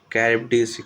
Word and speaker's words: Charybdis: Okay, between Shaila and दूसरा का जो है वो क्या है कैरिब्डिस, यहाँ पे उसको कॉ प्रोनाउंस किया जा रहा है CHARYBDIS को, CHARYBDIS।